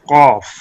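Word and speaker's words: قاف: Qaf pronounced as Qaf, using base of tongue touching the soft part of the palates and make thick sound for Qaf.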